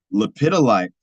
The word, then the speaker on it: lepidolite: personality of 55 and one awesome we have lepidolite has a personality of one as well can you spell that yeah that's going to be l e